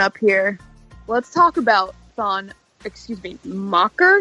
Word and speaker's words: Maker: So Mocker is the Sudanese pronunciation, and we just bastardized it and said Maker.